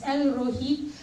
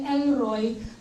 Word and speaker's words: El Roi: Ano po, sa Greek, sa Hebrews, ang pronunciation po nito is El Rohi. Sa English po ay El Roy.